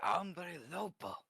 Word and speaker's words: Hombre Lobo: character let's get that how do you say it again ombre Lobo umbre Lobo it's umbre Lobo excuse me Little Wolf